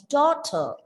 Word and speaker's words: daughter: Again, the word daughter is a noun with two syllables. The stress is given on the first syllable, and there is a silent R sound at the end. Daughter.